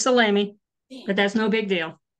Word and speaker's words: Salamy: up we have salomé introduction to rug hooking a one-day Workshop it's Saturday July the 13th hi there pronounced your name wrong salami salami it's salami but that's no big